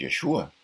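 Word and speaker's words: Yeshúa: con el acento la el nombre de mesía de joshua con acento en la u qué significa el salvará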